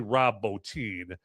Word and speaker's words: Rob Bottin: So, anyway, but, point I was making with that is it's actually Rob Bottin is how you pronounce that here.